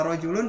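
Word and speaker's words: رَجُلٌ: ya Nah ini juga untuk kata rojulun gitu kan tidak ada yang dipanjangkan jadi kita bacanya langsung ya rojulun karena nanti kalau ada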